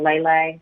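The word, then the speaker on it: Lai Lai: the Chinese dance hall Lele that's how you pronounce it um you know he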